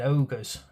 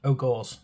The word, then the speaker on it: Ogors: of quite cool um Undead ogers ogors I say I have to say it right don't I otherwise